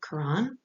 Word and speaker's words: Quran: different ways of spelling it here but we pronounce it quran and here is an early example of islamic